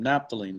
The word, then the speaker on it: naphthalene: uh d burning crystalline naphthalene naphthalene naphtholene is how you pronounce it c10h8 it's a hydrocarbon